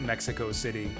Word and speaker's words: Mexico City: um excuse me it's it's in the original spanish it is pronounced mexico city not mexico city so yeah i want